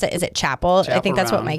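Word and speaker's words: Chappell: I'm told that you pronounce it. Is it Chapel? I think that's what my kids said. Okay. So Chapel.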